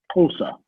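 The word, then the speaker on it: Xhosa: of languages try to learn chosen which is pronounced tulsa spell it how to try to learn that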